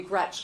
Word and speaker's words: Gretch: Don't let people call you Gretch, because it rhymes with wretch.